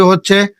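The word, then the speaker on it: ه: তারপরেরটি হচ্ছে হা। এক সেকেন্ড। এটার আগে যে হা পড়েছিলেন ওটা কিন্তু হা গলায় চাপ দিয়ে। আর এটি হচ্ছে হা। কোন চাপ নেই।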